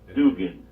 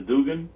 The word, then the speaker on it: Dugin: So it's spelled Aleskandr. Dugin.